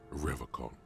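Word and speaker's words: Revachol: But someone has to stay strong for Revocol. He pronounces Revocol with a hard K, unlike other people.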